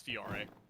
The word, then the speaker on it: Fiore: I've always been pronouncing it Fiore. Yeah, it's Fiore. Fiore?